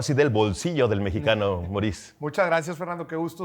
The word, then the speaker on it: Moris: del bolsillo del mexicano moriz Muchas gracias Fernando Qué gusto estar aquí compartiendo por dos cosas número uno por la invitación y número dos porque mencionaste mi nombre exactamente como se pronuncia Y eso es difícil